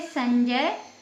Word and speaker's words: संजय: उदाहरण है जैसे संजय तो जो ज है ज कौन से वर्ण का वर्ग का है च वर्ग का है तो इसका पांचवा वर्ण है याया तो इसमें याया का उच्चारण निकल रहा है अम की बिंदी के